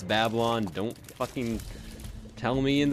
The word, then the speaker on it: Babylon: Maybe like a Guppy's Paw Whore of Babylon combo. And I know it's Babylon. Don't fucking tell me in the comments, hey, you pronounced Babylon wrong. It's not like babe, it's like Babel.